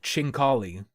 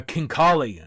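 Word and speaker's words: khinkali: They are not pronounced chinkali, although I thought it might be. And I was yelling about chinking out. They are kinkali.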